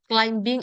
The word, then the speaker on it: climbing: Itu kalian silent aja ya.